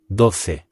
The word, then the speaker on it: doce: 12 is Doce. spelled D-O-C-E. The O makes a really short sound here, and the C is making the th sound again.